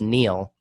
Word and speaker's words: Niall: I actually used to have a friend in high school named Niall. He said it was Neil, but then this guy Niall Horan showed up and fucked that up for everybody.